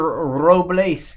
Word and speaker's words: Robles: Roll your R's. Victor Robles going to go to the Nationals.